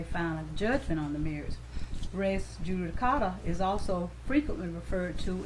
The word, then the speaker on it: res judicata: Okay, and so how is this pronounced? Res Judicata.